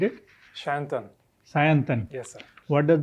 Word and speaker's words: Sayantan: How do you pronunciate it? Sayantan.